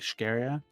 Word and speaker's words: Scheria: How do you pronounce a GYG? Like Ogigaya? Jesus. Okay. Talalakan. Zavendis. Artvalaba. Jesus. Scheria. I think Scheria.